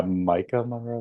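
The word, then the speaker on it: Maika Monroe: Yeah, Micah Monroe.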